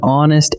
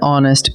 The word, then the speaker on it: honest: An honest answer. The word honest begins with the letter H, but that H is silent, so honest actually opens with a vowel sound.